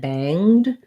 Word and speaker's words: banged: into that if sound same thing with bang and banged we're gonna have that ng sound bang if i was doing bang i would do the same thing here or banged i just go right from the um to the banged um so no no sound for that e and uh no g sound just an ng sound i do have a